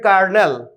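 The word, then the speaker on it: carnal: कार्नल, कार्नल, कार्नल, इस प्रकार से इसका उच्चारण होगा।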